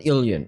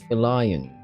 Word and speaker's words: Elion: It's got to be Illion. It's not. Or is it Elion? Illion 18. Sounds pretty cool. I don't know. Somebody comment down below. How do you pronounce that? Huh? Ion. It's not Illion. It's Elion. Elion 18. That sounds actually better.